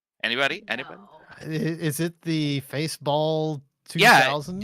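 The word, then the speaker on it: Faceball: anything is it the face ball 2000 it rhymes with baseball hooray I guessed it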